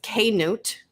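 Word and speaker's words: Cnut: mike is telling me how to pronounce this k newt king k newt uh where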